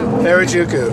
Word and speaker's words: Harajuku: Harajuku. Oh, I pronounced it wrong.